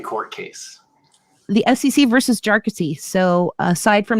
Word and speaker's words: Jarkesy: So there's a funny colloquy at the oral argument in the Supreme Court where the lawyer was, like, you people keep mispronouncing it, Jarkesy, right? So it's Jarkesy.